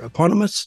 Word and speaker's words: eponymous: Eponymous?